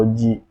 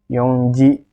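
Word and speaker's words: 四時: dulu ada 12 dan Disini Hai itu khusus dibacanya Yoji yo yo Ji meskipun tadi saya bilang kalau yang akhirnya gunakan adalah Joe tapi di sini untuk 04.00 itu dengan menghilang itu jadi hanya dibaca Yoji bukan youngjae ya tapi Yuji Yuji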